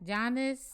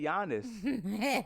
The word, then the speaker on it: Giannis: How you say it again? Giannis. I said it right this time. Mm-hmm. I used to say Giannis.